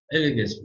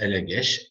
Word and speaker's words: Elegest: Bu farklı telaffuzlar Rusça'nın Avrupa dillerindeki farklı telaffuzlarından kaynaklanmaktadır. Eleges, Elegeş, Elegest vesaire. Şimdi bu 10 numaralı Elegest bir yazıtı, burada da kitapta da metnini vermiştik, burada da metni görülüyor.